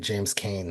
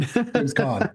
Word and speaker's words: James Caan: I'm glad Really, you really pronounced it first because I've been pronouncing it James Cain the whole time. James Cain, oh James Cain. James Caan. James Caan, yeah.